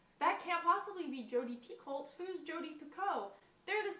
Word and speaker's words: Picoult: I also read A Spark of Light by Jodi Picoult.